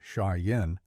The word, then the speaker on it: Cheyenne: Blackfoot Crow Arapaho and Cheyenne pronounced shyen and kamanche also the